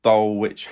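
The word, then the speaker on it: Dulwich: it's Eastbourne Borough versus Dole witch Hamlet I think is how you say it on Saturday uh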